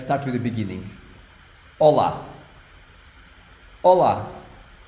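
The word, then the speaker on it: Olá: you write it like Ola it has two syllables first one is O second one is LA and this one is the strong syllable so it's the one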